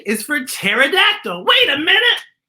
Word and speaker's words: pterodactyl: when we say it but sometimes there's when we put letters together a letter will become silent and it takes on the meaning of the letter right next to it and we're going